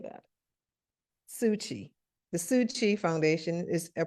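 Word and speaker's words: Tzu Chi: The Tootsie, the Took Chai, am I getting that right? How do you say that? Suchi.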